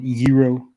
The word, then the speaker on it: gyros: the greek getaways or as the uh greeks pronounce it hero i love you rose